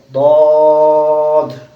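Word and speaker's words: ضاد: দোয়াত হবে না, হবে দদ।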